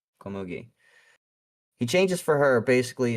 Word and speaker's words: Komugi: Komugi. Komugi. Komugi.